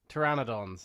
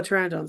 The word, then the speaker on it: pteranodon: Pteryanodons they're called, I think. Oh, pteranodons. Okay.